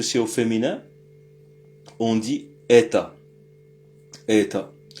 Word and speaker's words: это: Mais lorsque c'est au féminin, on dit eta. Eta. Alors pour le neutre on dit eta. Vous voyez il y a un o mais c'est prononcé comme un a.